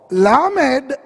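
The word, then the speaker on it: לא: இப்போ லாமேட் முதல் முதலும் ஆலெஃப் அடுத்ததுமா இருக்கிறது. இது எப்படி தெரியுமா உச்சரிக்கிறது? லோ, சொல்லுங்க. லோ இப்படி இருந்தா எல், அதான் தேவநாமம். இப்படி இருந்தா லோ.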